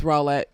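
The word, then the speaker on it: Rowlett: white suburb called named rawlet texas um or rowlet apparently i don't know it's spelled roulette it's rawlet um yeah i don't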